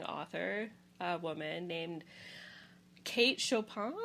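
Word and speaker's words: Chopin: Next up, another really interesting author, a woman named Kate Shopan. I think her last name should be pronounced the French way. Shopan. She was from Louisiana, so would have had that French Creole French.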